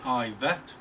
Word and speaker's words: Yvette: a current labour mp yvette cooper she pronounces the name ivette which i think answers